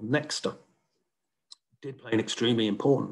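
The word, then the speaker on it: Nexta: media particularly tell up this telegram channel called nexter did play an extremely important role in mobilizing and maintaining protests is the correct pronunciation it means someone in the belarusian language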